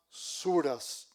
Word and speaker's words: sura: Está dividido en 114 unidades capitulares que se llaman suras. Se escribe s u r a hs.